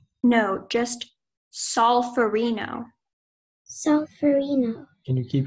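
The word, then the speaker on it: solferino: for Reno is from an Italian geographical name solverino Arena that sounds about right are there any alternate pronunciations no just solve for Reno so Farina can you keep your hands up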